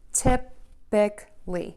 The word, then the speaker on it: typically: hear another mistake here when we say typically we are most of the time going to use just three syllables I do hear some variations but by and large I really just hear people say typically typic typically typically typically